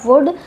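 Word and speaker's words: would: यहां पर वुड पढ़ेंगे क्योंकि यू यू वोवेल के बाद आया है एल इसलिए एल का प्रोनंसिएशन नहीं होगा वुड और इसको पढ़ते हैं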